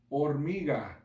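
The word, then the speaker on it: hormiga: you guys say that or me God okay that's kind of hard just gotta roll your R's can you boys a girl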